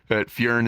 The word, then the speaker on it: Fjrn: Everyone pronounces it Fern, but Fjrn is good too. That's the official way to pronounce it. But literally, to make it easy, I just tell everyone to just call me Fern.